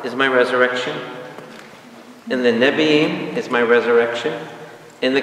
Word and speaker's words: Nebi'im: Nebi'im. What's the Nebi'im? The prophets. Prophets? N-E-B-I-I-M, Nebi'im.